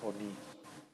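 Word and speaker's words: עני: Podríamos caer en la tentación de decir que es un Kametz y se pronuncia como A, pero no, este siempre va a ser una O.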